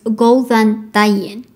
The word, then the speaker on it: Góðan daginn: diving yeah go and diamond so the correct pronunciation of this phrase is golden diamond most letters in Icelandic are the same as